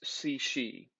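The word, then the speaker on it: Cixi: ruled by this empress her name is si shi okay and uh numbers two and three kind of go together here empressy and yes you spell it c-i-x-i okay empress c she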